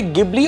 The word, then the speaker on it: Ghibli: the list goes on इसे गबली और जिबल दोनों नाम से प्रोनाउंस किया जाता है तो कंफ्यूज मत होएगा